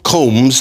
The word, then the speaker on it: Combs: I was wrong um it's spelled Combs as in a comb through your head Prince Harry is reportedly